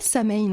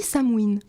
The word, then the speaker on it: Samhain: ça se dit pas Samhain en fait ça se dit Samhuin Samhuin OK pas du tout